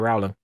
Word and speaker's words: Rowling: name is JK Rowling you say it right Rowling no I'm pretty sure it's Rowling no leave us a comment that's the controversy today all right everyone no she says it's like a rolling pin well then she's wrong